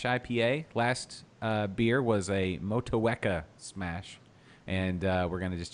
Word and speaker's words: Motueka: Motueka. Yeah. Motueka.